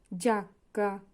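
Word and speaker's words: giacca: থাকে তাহলে হবে যা জি এর পরে ই আ থাকলে হবে যা জাক্কা জাক্কা জাক্কা মানে হচ্ছে জ্যাকেট।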